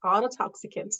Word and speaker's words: ototoxicant: on a unique occupational exposure challenge am I pronouncing that word correctly yes it's autot toxicant yes well it it is well known that